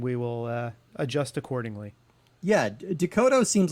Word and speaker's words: Decoteau: I always want to say Cocteau, but it's David Decoteau.